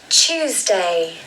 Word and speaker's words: Tuesday: Tuesday, Tuesday, Tuesday. So you'll notice here that it is not a T sound. It is more of a CH sound.